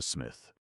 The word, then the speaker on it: Psmith: So I decided to adopt the smith. The P, I should add, for your guidance, is silent, as in fifthesis, psychic, and tomigan.